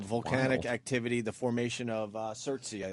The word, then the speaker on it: Surtsey: Volcanic activity, the formation of Surtsey, I believe is how you say it. Surtsey.